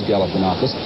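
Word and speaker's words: Galifianakis: He one of his biggest problems in the campaign was to teach voters how to pronounce his name. It is Galifanakus.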